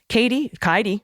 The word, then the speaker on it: Kaidi: Katie rhymes with Heidi. Thank you for the thank you for the pronunciation key. And Mimi. Kaidi is the black one